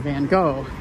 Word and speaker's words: Van Gogh: dutch i'm american i grew up caught in van gaal germans tend to claim bengals so people say my name wrong all the time too that's just how